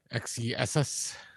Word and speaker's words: XeSS: Uh, speaking of, you know, the the chip market, Intel, uh, and the they did they pronounce this XS, Kevin? XESS.